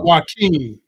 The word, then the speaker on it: Jaquan: His name is spelled Jaquan, but he calls himself Joaquin.